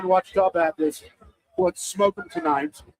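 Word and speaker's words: Ouachita: So Wachita.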